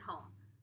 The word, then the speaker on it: home: let's check home and we have been silent E again at the end of silently tells that oh not to say ah to say its name Oh home excellent job